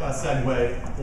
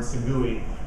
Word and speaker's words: segue: So that's a perfect segue, or as my 8-year-old son pronounces the word "segui," to talking about promoted tweets.